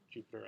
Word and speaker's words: Jupyter: the one word uh and that's with Jupiter with a Y and I still pronounce it Jupiter I guess but um this will